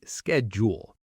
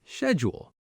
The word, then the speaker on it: schedule: For example, schedule. American speakers often say schedule while British speakers often say schedule. Both are correct, just regional differences.